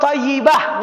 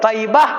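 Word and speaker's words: طيبة: Nam Madinah ko adalah thaibah atau thayibah dua cara bacanya thayibah atau thayibah itu namama lain kota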